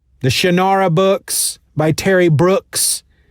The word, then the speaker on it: Brooks: shannara books by terry brooks which rhymes with books so i was all